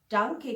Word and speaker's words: Danke: वैसे तो normally थैंक यू को डांके कहते हैं, DANKE। डांके प्रोनाउंस उसको इस तरह से करते हैं, थैंक यू, डांके, थैंक यू, डांके।